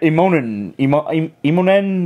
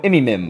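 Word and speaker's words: Immonen: His artwork, well, I couldn't pronounce, I used to call him Imimim. Yeah. But that was when his artwork sucked. Now, I'll give him the respect that I'll pronounce his name correctly.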